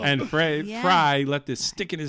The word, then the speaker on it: Frey: That you're saying Frey because of the and way it's spelled. Yeah, but you Glenn know, Fry.